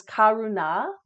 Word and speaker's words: Karuna: And the Sanskrit pronunciation is Karuna.